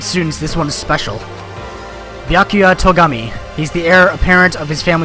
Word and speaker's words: Byakuya Togami: Bakakuya Togami. Name's Byakuya Togami. Byakuya Togami. Okay. Inserted an extra syllable in there for some odd reason.